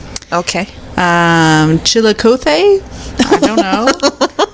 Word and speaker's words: Chillicothe: Chillicothe? I don't know. It's Chillicothe.